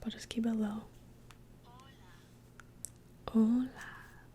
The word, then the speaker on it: hola: Hola. The H in hola is silent.